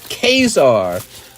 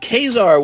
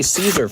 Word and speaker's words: Caesar: were cool like that kesar it was pronounced kesar when I was learning Latin we we just say Caesar for some reason like